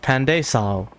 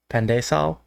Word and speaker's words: pandesal: But now I know it's pronounced Pandesal, I think.